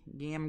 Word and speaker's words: Gam: Gam. Gam. Rhymes with jam.